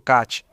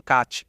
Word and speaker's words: khat: E na agricultura, você precisa entender que os iemenitas são meio obcecados por khat. O que é khat? Às vezes também se escreve com Q e, em árabe, o Q tem esse som, como mostramos no episódio sobre o Catar.